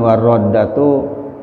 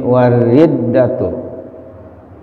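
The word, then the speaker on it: والردة: Ingat, walaupun ro ini harokatnya ada di atas, akan tapi kalau harokat di atas itu ada di bawah syiddah, di bawah tasydid, tetap dibacanya kasroh, kecuali kalau harokat di atasnya di atas syiddah, di atas tasydid baru fathah. Jadi dibacanya bukan warroddatu tapi wariddatu. Kita terjemahkan.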